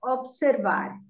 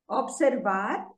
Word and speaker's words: observar: So we are doing the verb now, observar. Observar is pronounced with stress on the last syllable. In English, we say observe, but here we say observar.